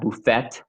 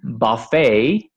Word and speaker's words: buffet: french and so therefore the ending of the word is not pronounced so i tell them this like a a bad french pronunciation like it's not buffet or ballet it's buffet and ballet um wow so that's